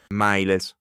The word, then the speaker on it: mīles: The word for soldier with a short E. miles, militis, 2 syllables grow to 3, a consonant stem.